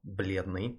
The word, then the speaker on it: бледный: So if we take this word here as an example, бледный, it means pale. When you have the soft L there, there's no E sound after it. So it just says бледный.